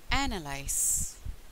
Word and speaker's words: analyse: The stress on the first syllable. So it became analyze.